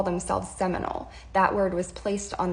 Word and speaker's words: Seminole: In their dialect, it became Similoni, and Americans learned the term and pronounced it as Seminole.